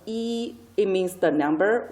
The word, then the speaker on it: 一: E, pronounced as E, it means the number 1.